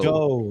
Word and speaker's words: Trudeau: Trudeau, like dough.